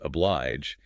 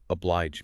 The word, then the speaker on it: oblige: Apparently Coleridge pronounced oblige as oblige, and Kemble, being this stickler for proper speech, said something like, "It would become your royal mouth better to say, oblige me."